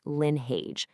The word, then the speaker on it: Lynnheage: And by the way, it's pronounced Linh.